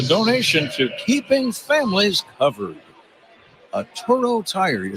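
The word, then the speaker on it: Atturo: A Toro Tire, you spell it A-T-T-U-R-O.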